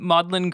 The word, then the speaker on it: Magdalen: talk about the um modlin grimoire it's spelled like Magdalene uh but for for those people who aren't famili amiliar with the UK education system modlin College in Oxford and a couple other